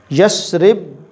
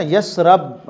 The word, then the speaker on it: یثرب: یثرب پہلے دیکھیں نا، یثرب را کے اوپر زبر پڑھتے ہیں، ایک تو یہ تلفظ ہی غلط ہے۔ صحیح لفظ جو ہے تلفظ یثرب ہے، یثرب کے والی شاہ مدینہ۔ جی تو یہ لفظ قرآن میں بھی اس طرح ہے، یثرب را کی زیر کے ساتھ، وقالت طائفۃ من اہل